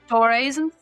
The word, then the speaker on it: Doraism: And I will recall something from one of your Doraism, if I'm pronouncing it correctly. Doraism?